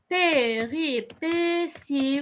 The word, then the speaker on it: péripéties: Alors, j'appelle ça les péripéties, ou bien, j'écris T, mais je prononce S.